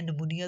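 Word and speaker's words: pneumonia: से consonant N से पहले निमोनिया तो इसकी आवाज साइलेंट हो गई इसी इसी इसी तरह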